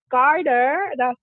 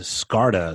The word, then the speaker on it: Scarda: It's Scarta. So it's, if you look at the name, it's S and then the word card, C-A-R-D.